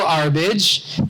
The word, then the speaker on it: Arbige: my name is arage and it does rhyme with garbage I've heard that so